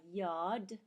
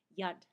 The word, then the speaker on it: Yad: And uh I learned that this is also called a yacht. Yad I believe is the proper pronunciation.